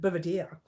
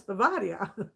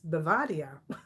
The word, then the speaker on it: Bavaria: moda vera bavaria i used to call it beaver deer it's not it's bavaria it took me a long time you know